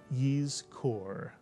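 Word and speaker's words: יזכור: So the first syllable would look like this, and it would be pronounced Yiz, Mitsuyan, Yiz. And the second syllable is easy, Kor, Mitsuyan. Put the word together, you get Yiz Kor.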